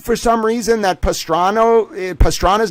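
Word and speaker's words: Pastrana: We know that she knows the president of Colombia who's not Pastrano, it's Pastana. Come on, you need to get his name right.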